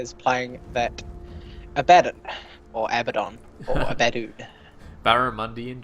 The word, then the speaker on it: Abaddon: We even got like one of those pronunciation bot things, and it's Abaddon. Yeah, It's a double Yeah, D, single I D. know, but I've always called him Abaddon, and it's really hard to break.